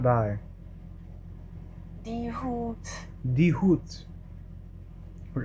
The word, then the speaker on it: die: Die, pronounced D. You visualize in English as D-E. Die.